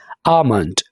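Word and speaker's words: almond: है green tea अमन यहां पर हमने ल को साइलेंट रखना है आलमंड बादाम डेट कुदुर डेट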